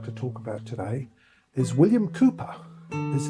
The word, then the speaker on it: William Cowper: So the poet I'd like to talk about today is William Kooper. His name is spelled Kalpa but it's pronounced Kooper.